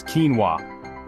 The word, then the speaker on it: quinoa: the Ultimate Health Guru ready for this it's quinoa yep that's it now go forth and impress